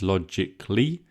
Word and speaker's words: logically: My pronunciation is logically. We omit the little schwa, logically, but it is written C-A-L-L-Y.